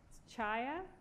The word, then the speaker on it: Chaya: a comment i guess my last name if you're really curious to how to pronounce it chaya polish remember it just by saying hi and Shia alright so let's get